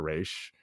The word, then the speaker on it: Raish: just came back to Raish. It doesn't make sense to me. Raish, not Raz. Like for whatever reason they decided to mispronounce his name.